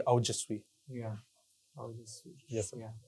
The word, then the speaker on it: Aojasvi: So actually, the pronunciation comes out to be Aujasvi.